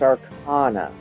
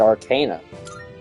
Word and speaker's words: Arcana: So it's pronounced Arcana. I was always calling it Arcana.